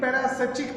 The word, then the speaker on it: parasitic: देखिए पैरासिटिक plants वो होते हैं, इसका जो करेक्ट प्रोनाउंसिएशन है पैरासिटिक।